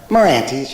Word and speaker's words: Merante's: Merante's. Merante's, okay, good.